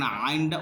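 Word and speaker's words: عين: উচ্চারণ হবে মাঝখান থেকে।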